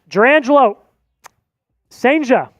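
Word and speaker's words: Jurrangelo Cijntje: Durangelo Senja, I believe, is the proper pronunciation, is the pick for the Seattle Mariners.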